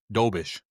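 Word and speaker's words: Dobeš: So, was Dobis or what how you say his name last night? Dobbish.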